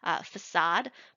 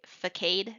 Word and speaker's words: facade: I remember I used to say the word facade, but I would say facade because that's how it looks, and I'd read it